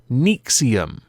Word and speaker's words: NXIVM: indicate it is but it is pronounced nexium which to me is